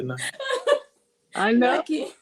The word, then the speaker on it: Naaki: remembered you saying either way, but how you pronounced your own name, you said Naaki. Naaki. Naaki. Nice. And you have let me call you Nakai, It's okay.